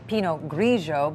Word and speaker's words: Pinot Grigio: Now, we should say that our pronouncer isn't right on with this, because this would look like we would say Pinot Grigio, but it is... Pinot Grigio.